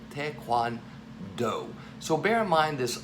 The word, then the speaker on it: taekwondo: here with this character this is the vowel sound for a long o where do we see that very commonly in the word note again the long o sound taekwondo now we know communally